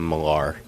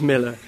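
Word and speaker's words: Millar: Joe Casada calls him Malar. Yeah. No matter how many times people are told, "No, no, it really is Miller. It's an A, but you pronounce it like an E."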